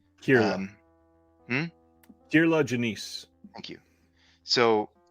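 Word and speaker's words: Kier-La Janisse: Kirla Janice.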